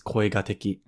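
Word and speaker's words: 恋敵: This is koigataki.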